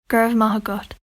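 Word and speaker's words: Go raibh maith agat: are you di Kat this is how you say thank you gra mahot and here's how you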